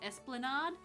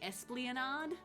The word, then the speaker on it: esplanade: out to me another one was esplanade you know like down near beach beachy places you have esplanades i always used to say espleonard i just added an extra like sort of syllable in there because i guess i was a bit silly and um yeah until one day someone set me straight i was like oh